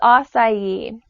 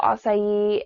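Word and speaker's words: açaí: next superfood we're going to talk about is oai and it's spelled AC Ai and you may have started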